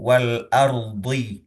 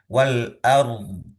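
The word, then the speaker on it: والأرض: samawati wal ard ya, maka ro sukun itu perlu diucapkan terlebih dahulu baru setelah ro sukunnya sudah sempurna baru kita mengucapkan dod yang sukunnya gitu ya.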